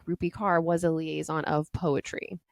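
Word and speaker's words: Rupi Kaur: do you say her name rupe rupy car rupy car yeah yeah rupy car is also such a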